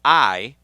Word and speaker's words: Iyoob: Very excited today because we are going to be hanging out with a guy named Iyoob, and that is spelled I-Y-O-O-B.